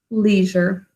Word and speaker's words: leisure: The zher syllable actually has a z, saying that zh sound. And then we have the phonogram earlier of hurt, leisure. We also have a silent final E.